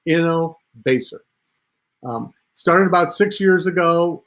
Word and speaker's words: Innovaccer: how to pronounce it it's a combination of the word innovation and acceleration so it's inno basic started about six years